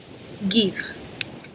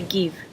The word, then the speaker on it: Givre: Givre. Givre. You can just say give. Givre. Just kind of have that givre at the end if you don't want to pronounce it.